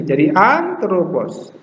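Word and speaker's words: ἄνθρωπος: T-R-O dibaca antropos. Ini omega, ini omikron, jadi O-O. Antropos. Antropos. Ini aksen di sini, jadi antropos.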